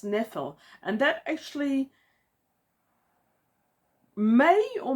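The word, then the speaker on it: Ynefel: There's also the tower from which Twiston came which is spelled Y ne F E L. And I didn't actually say that in my head until much later on in the book. But if you if the Y is silent that's Nephil.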